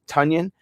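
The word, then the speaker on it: Tonyan: ends available now and i like tanyan uh funyun runyon bunyan rhymes with it we're gonna pick robert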